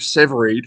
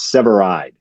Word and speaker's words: Severeid: my last name because people that read it always do SE read it's seide seai like Samurai yeah SE yeah well